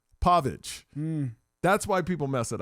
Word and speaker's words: Pavich: Your name is spelled P A V I C H. That's Pavage. You're supposed to say it Pavage. Pav is P O V. Pavage.